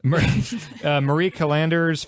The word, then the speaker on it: Callender: Marie Callender's fettuccine Alfredo. I probably had 500 of those growing up. Callender's? First of all, it's Marie Callender. Okay, Marie Yeah, like Callender's. the word calendar.